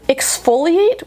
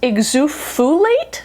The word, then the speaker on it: exfoliate: reason in my head, exfoliate was pronounced exufulate. So I found it very hard to pronounce at first, or not hard to pronounce, I just pronounced it totally wrong and very comically.